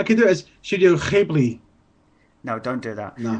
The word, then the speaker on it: Ghibli: I was watching Ponyo, whether you pronounce it Ghibli or Ghibli. Either way, don't care. Yeah, I say Ghibli as well, but I've been told it's Ghibli.